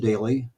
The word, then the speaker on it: Doelle: If you look at his last name, kind of an unusual spelling, but it's pronounced Daly.